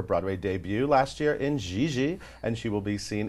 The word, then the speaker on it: Gigi: Gigi.